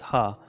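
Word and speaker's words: ห้า: Jean says five in Thai is pronounced ha.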